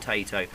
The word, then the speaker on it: Taito: How do you pronounce it? Taito. I always call them Taito.